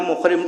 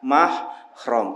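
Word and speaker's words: mahram: orang yang ihram ya kadang kita itu masih ada salah dalam pengucapan eh bukan muhrim Jangan sentuh bukan the misalnya maksudnya muhrim itu sebetulnya orang yang efrom kalau yang tidak boleh menyentuh itu namanya mahrom sentuh Bukan mahrom misalnya atau dijadikan mahrom dulu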